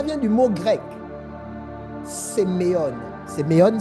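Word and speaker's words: σημεῖον: Séméon s'écrit S-E-M-E-I-O-N.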